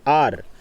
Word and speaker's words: hour: अगर आर आता है, HOUR, आर, H से साइलेंट स्टार्ट हो रहा है, लेकिन आपको एन यूज़ करनी बहुत ज़रूरी है।